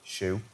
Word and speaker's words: SHU: All of those solitary confinement inmates were either transferred to the Special Housing Units, SHU, pronounced SHU, had their cases re-examined by our in-house judge, or dropped entirely.